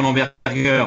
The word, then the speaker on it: Berger: donc c'est un détail on prononce qu' l'bergur parce que c'est le nom du fondateur qui était un Allemand mais on peut le franciser ça ça convient aussi euh oui depuis un mois